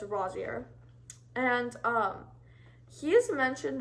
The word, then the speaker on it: Rosier: yeah next is Evan rossia I used to pronounce the name Rosier because I was a little slow and I should have known by watching the movie but it's Rosier and um he has mentioned once in the